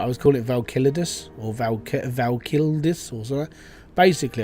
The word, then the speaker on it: Volcalidus: I was pronouncing it wrong for like weeks. And then whilst I was recording my videos, I basically forced myself and over again practiced the word Volcalidus.